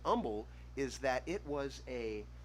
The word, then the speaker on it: Humble: he was english he he pronounced the h in humble differently as in he didn't pronounce it and so it was just humble from amul texas and so that's why everybody calls it humble because it was founded